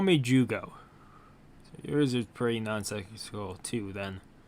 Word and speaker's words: Jyugo: okay they call me jugo yours is pretty nonsense cool - then you want to talk 15 is pronounced as you go that's enough I didn't